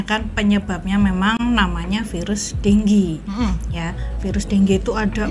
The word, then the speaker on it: dengue: mau membenarkan cara pembacaran dengue dengue itu bacanya tuh yang bener apa Dok denggi denggi Jadi bukan dengu apa dengue atau dengge salah ada beberapa negara yang